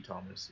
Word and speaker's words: Thomes: The H is silenced, but it would be Thomas.